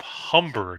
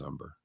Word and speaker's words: Humber: It's Philip Humber, not Umber. No, actually it is Umber. It's not. It's spelled with an H, but you don't pronounce it, just like mine.